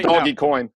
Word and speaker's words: Dogecoin: you can run that pronounced doggy coin use that yeah see